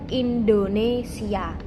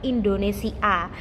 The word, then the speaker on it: Indonesia: Terus kata terakhir yaitu Indonesia. Nah, di sini sebelum huruf A itu ada huruf Y karena tidak mungkin kita membacanya itu Indonesia. Jadi kita harus membacanya Indonesia.